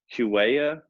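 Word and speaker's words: Huawei: the 5g network by q Waya I don't even know how to pronounce that company but it's the cell phone company Oh away the H yeah it's like you way yeah yeah yeah yeah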